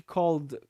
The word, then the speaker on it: called: Então a palavra called vai ser um som de called, um som de D no finalzinho, um som sonoro.